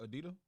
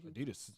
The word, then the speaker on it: Adidas: Nike adid and Jin that's how you pronounce it adid yeah what you want to SP Adidas I say the S I say adid oh okay it don't